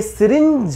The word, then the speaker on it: syringe: इसकी जो right pronunciation होगी, और स्पेलिंग आप देख सकते हैं SYRINGE, ये सिरिंज होता है, ना कि सिरिंज।